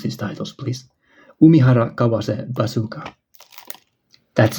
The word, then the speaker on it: Umihara Kawase: Like, learn to pronounce these titles, please. Umihara Kawase Bazooka.